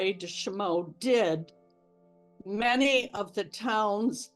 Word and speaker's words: Chaumont: know now the reason shimo is pronounced the way it is is because it was named for James Laray des shimo and his family and that is the French pronunciation the members of the